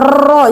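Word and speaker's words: ر: Ro itu cara pengucapannya enggak boleh bertingkat-tingkat sekali. R-nya Bu Ro itu enggak boleh ya, Bu ya. Cukup satu gelombang saja.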